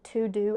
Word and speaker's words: TeuxDeux: If you're someone that gets overwhelmed by that, I highly recommend the To Do app. It's spelled TEUXDEUX app.